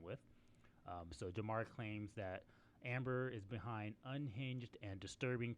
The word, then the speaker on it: Ambar: For the spelling of her name is Ambar, but I'm assuming it's pronounced Amber.